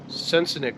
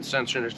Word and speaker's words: Sensenich: This is a Sensenich. I recently learned that's how you pronounce it. I've been saying Sensenich the whole time.